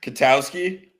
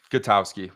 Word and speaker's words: Gatowski: Katowski. Katowski. Gatowski with the G.